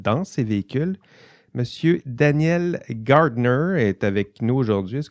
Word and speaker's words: Gardner: ah tout à fait c'est d'origine irlandaise donc mais en France il m'appelle Garner et puis on comprend tout merci Daniel ben je